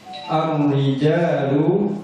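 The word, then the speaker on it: الرِّجَالُ: Ar-rijalu ra, karena diawali huruf A sehingga bacanya tebal. Ar, namanya apa? Tafkhim ya, tafkhim. Tidak ar-rijal, itu namanya tartib. Jadi ditebalkan agak seperti mengucapkan o.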